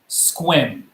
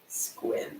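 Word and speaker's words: Sequim: So this is a city in our state of Washington, and it is pronounced Squim. Squim.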